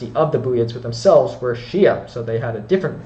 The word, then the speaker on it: Xia: follow so but nonetheless it's Western Shia but it's spelled x i a so the Western Shia also known as the